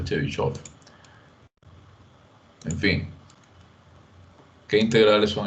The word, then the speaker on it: Chebyshev: En realidad esto se pronuncia Chebyshev. Es una mala transliteración. Debería ser Chebyshev.